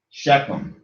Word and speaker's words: Shechem: Chiefs were also called Shechems from the original Moor word Timere. Shechem properly pronounced Shechem.